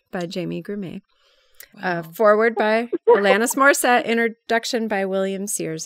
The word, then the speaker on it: Alanis: Can I just say too, I want to point out it has a foreword from Alanis is how you pronounce it.